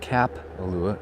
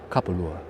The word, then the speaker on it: Kapalua: Now notice I'm helping you with the correct phonetic pronunciation of the word Kapalua. Just think of the word cop, like a police officer, like a cop. It's not Kapalua, it's Kapalua.